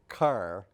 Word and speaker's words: care: somebody and you don't have to car that's a West Kentucky pronunciation of the word care yeah that as I